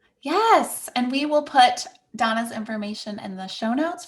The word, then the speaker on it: Dana: Yes, you can definitely find me over on Instagram at This Is Donna. Donna is spelled Dana, and bowling is like the sport.